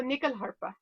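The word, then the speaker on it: nyckelharpa: tell us about it sure it's called a nickel harper never heard of it that's spelled n-y-c-k-e-l-h-a-r-p-a and nichol is the swedish word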